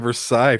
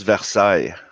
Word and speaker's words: Versailles: I didn't know what letters were like you look at Versailles, for example, the Treaty of Versailles, and it has like LLES. It's like why is it still there? Because it's Versailles.